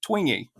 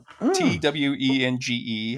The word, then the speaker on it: Twenge: Jean Twenge, in her book, she actually said, Twenge, Twenge. I actually listened to an interview with her just so I knew how to pronounce her name.